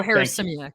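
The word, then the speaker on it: Harasymiak: Joe Harrisimiak, thank you.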